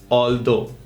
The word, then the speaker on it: although: English में बोलते हुए हालांकि के लिए वर्ड है ऑल्दो। इसकी प्रोनाउंसिएशन है ऑल दो, 1 2 3 वाला दो, ऑल्दो।